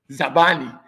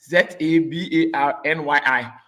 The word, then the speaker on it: Zabarnyi: Zabani. Zabarnyi.